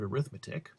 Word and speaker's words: arithmetic: Okay, it looks like the word arithmetic but I'm using it as an adjective and therefore I pronounce it this funny way arith-MET-ic.